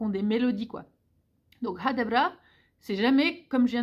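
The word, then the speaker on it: Ha det bra: Et toujours est-il que je trouve que cette phrase hadabra, elle a une mélodie qui est propre en fait. Vous n'entendrez rarement quelqu'un dire hadabra, hadabra, genre comme on peut avoir en français linéaire comme ça. Hadabra, c'est toujours hadabra, nanana. Il y a vraiment une mélodie, quoi, c'est nanana.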